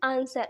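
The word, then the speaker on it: answer: यहां पर देखिए आंसर लिखा है आंसर की स्पेलिंग क्या होती है एनएसडब्ल्यू इस बार इसको हम क्या करते हैं आंसर आंसर में क्या होता है उत्तर अगर हम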